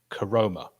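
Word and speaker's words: Koroma: mentioned, Thomas, Ward, and how you pronounce this is very important, Karoma. See what you did there. I thought it was going to be one of Hal's crazy pronunciations, like Shandaburger. The correct pronunciation, yeah. It's definitely not. It's still definitely not.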